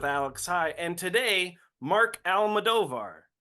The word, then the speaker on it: Almodovar: talk ADHD with Alex high and today Mark almadovar right yep okay we were talking about how to pronounce his name before we hit record so